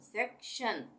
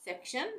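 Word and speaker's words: section: उसको हम शन पढ़ेंगे यानी टी आई ओ एन बन गया शन जैसे यह है एस ई सी सेक उसके बाद शन टी आई य एन शन सेक्शन नेशन मोशन इन इमेशन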